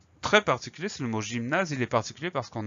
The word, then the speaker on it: gymnase: À noter que le son ZE de la fin de gymnase se fait avec un seul S, puisqu'on a le A et le E. On a deux voyelles, ça veut dire que dans ce contexte-là, la lettre S se prononce ZE, mais ça, on le sait par cœur.